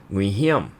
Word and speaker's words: Nguy hiểm: It was written as Nguy Hiểm, which, believe it or not, is exactly how you'd say it in Hokkien. Curiosity piqued, I confirmed the pronunciation with Bobby, our guide, and sure enough, it mirrored the Hokkien intonation perfectly.